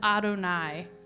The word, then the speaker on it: Adonai: we were looking for yud he V which we pronounce as Adonai or if you can't